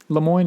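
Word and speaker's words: Le Moyne: college called lemoine in uh syracuse new york spell it lemoine is l-e-m-o-y-n-e okay lemoine and how did you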